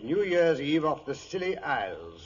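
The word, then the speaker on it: Scilly: Year's Eve off the silly Isles the silly Isles it sounds appropriate doctor the name of these particular islands is spelled s-c-i-l-l-y they are located roughly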